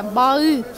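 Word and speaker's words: bağı: Это г не читается как г, а читается как ы. Ну не, не читается она вообще. Баы.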